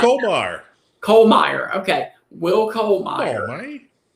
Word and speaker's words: Kollmeyer: And today we had on Will, how do you pronounce Will Kolemeyer. Kollmeyer.